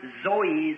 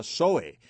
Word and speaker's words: zoe: of God or eternal life is pronounced zoe, zoe, zoe life. Y las dos palabras griegas y la vida de Dios o vida eterna se pronuncia zoe, Z-O-E, zoe, vida.